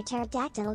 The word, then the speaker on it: pterodactyl: why can't you hear pterodactyl go to the bathroom because the p is silent york i'm face